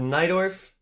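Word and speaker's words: Najdorf: There's another opening that isn't the dragon that is called the Night Orf. It's spelled that way, and that's the Night Orf. It's spelled with a J.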